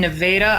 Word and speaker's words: Nevada: you I am in Nevada Iowa which is spelled like Nevada but we pronounce it wrong it's nothing like the other Nevada and certainly nothing like